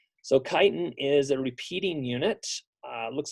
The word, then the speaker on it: chitin: some modified sugars so this is called chitin and I'm not chitin you some people pronounce it different as if there were an S there but I won't say it because this is going on YouTube and I don't want my mom to hear it so chitin is a